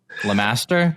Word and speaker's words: LeMaster: And we are joined by a very special guest, none other than the devil himself, Lamaster.